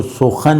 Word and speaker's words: سخن: آمد سخن۔ یہ جو سخن لفظ ہے بات کے معنی میں، اس کا اوریجنل تلفظ سخن تھا۔ تو شہ پر منشرہ